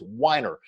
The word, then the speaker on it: Whiner: name right this time it's not wiener it's whiner so Dave I know